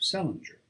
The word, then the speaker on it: St. Ledger: Patience, who was born in 1858, married an Irishman of the name of Celinger, which was the usual way of pronouncing the name of Salaj, or as they spelled it, St. Ledger, restored by later generations to the still older form.